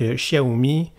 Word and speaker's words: Xiaomi: Xiaomi m365 pro donc Xiaomi vraiment prononcé à la chinoise avec un X au début c'est un modèle de